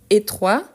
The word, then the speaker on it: étroit: Vous avez remarqué donc que quand on a une consonne à la fin, normalement on ne la prononce pas. Pourtant, quand on ajoute le féminin, ce n'est pas les E qu'on prononce, mais plutôt la consonne.